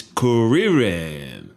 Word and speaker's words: Kuririn: He meets Kuririn. That's the Japanese pronunciation.